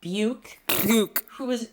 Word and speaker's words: Buke: I'm talking about Buke. Whose name rhymes with puke.